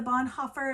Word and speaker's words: Bonhoeffer: written for kids so yay faithful spy the Bonhoeffer am I pronouncing that wrong Bonhoeffer biography so good so